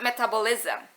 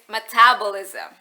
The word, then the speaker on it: metabolism: ketawa lalu dia benerin It's not metabolism metabolism like Oke aku pikir